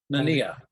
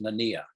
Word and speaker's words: Nania: Nanya will be representing fiction. Yep. Nania. The last name is pronounced Nania. Okay, Nania. Okay, It's a Sicilian name, so you can understand the confusion.